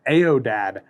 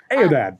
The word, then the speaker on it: aoudad: The Aodad. I am probably mispronouncing that.